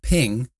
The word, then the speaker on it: PNG: the dot PNG pronounced ping or portable graphics Network